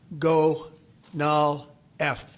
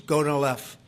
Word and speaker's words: Gonal-F: most popular drug of all, the IVF drug, Gonal-F. So it's Gonal-F. Is that a proper pronunciation?